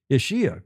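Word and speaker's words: Ischia: Is I S C H I A. Last last ishia. Correct. Isia Panza.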